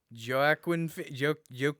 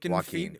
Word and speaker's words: Joaquin: He played Joaquin Joaquin Joaquin. Phoenix. That's it. There we go. I was like, I know it doesn't have I know the J is silent.